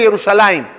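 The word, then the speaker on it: ירושלים: ¿Qué letra le falta al Yerushalayim en todos los escritos que yo sepa? No sé, a lo mejor. La Yud, Yerushalayim. Y no está, Yerushalayim. Se lee Yerushalayim.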